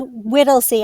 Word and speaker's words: Whittlesey: It's Whittlesey.